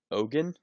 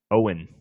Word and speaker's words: Eoghan: Ogan? Owen.